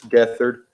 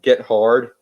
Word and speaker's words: Gethard: It was Chris Gethard, although his last name is Get Hard, GETHARD, Get Hard, but he pronounced Yeah.